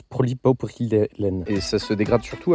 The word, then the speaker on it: polypropylène: Polylène, celui-là. En fait, ça se prononce polypropylène.